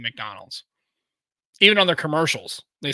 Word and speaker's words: McDonald's: is it it's Muk Muk Muk not Muk Donald's it's mck like word like a mick M like m i k McDonald McCarthy McCarthy that's m a r t h y m McCarthy like you know general Douglas Mark Arthur and mcarthy yeah it's not Mac Arthur it's McDonald's not Mick either I know it's not